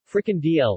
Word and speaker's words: frikandel: a frickhandle dutch pronunciation fricken dl listen pluralfricandelen is a traditional dutch snack a